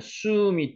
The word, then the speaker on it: 숨: 오늘 두신이라는 숨이 두신이라 두다는 뜻이 요 숨입니다. 숨. 춤이라고도 발음했는데 춤이라고 하지 말고 숨이라고 하는 게 더 정확한 발음입니다.